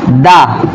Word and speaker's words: the: তো হচ্ছে যদি আপনার ভাওয়েল সাউন্ড থাকে THE এর পরের ওয়ার্ডের শুরুতে যদি ভাওয়েল সাউন্ড থাকে তাহলে সেখানে আপনি উচ্চারিত করবেন দি। আর হচ্ছে আর যদি THE এর পরের যে ওয়ার্ডটি থাকে সেই ওয়ার্ডটির দিক শুরুতেই কনসোনেন্ট সাউন্ড থাকে সেক্ষেত্রে আপনি উচ্চারণ করবেন দা, আপনি উচ্চারণ করবেন কি দা।